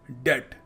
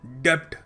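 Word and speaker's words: debt: डेट डी ई टी इसको ऐसे pronounce करते हैं जो बी लगा हुआ है ना वो साइलेंट है और लोग क्या बोल देते हैं लोग बोल देते हैं डेप्थ मैं तो डेप्थ में आ गया तो देखिए आप डेप्ट में नहीं आए आप डेट में आ गए ब्रिटिश इंग्लिश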